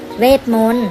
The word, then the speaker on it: เวทมนตร์: และ รอ เรือ ค่ะ เวทมนตร์ ก็ ไม่ ออก เสียง ทั้ง ต่อ เต่า และ รอ เรือ เช่น กัน ค่ะ เรา